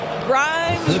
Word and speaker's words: Grimes: Grimes rhymes with dimes around time right there.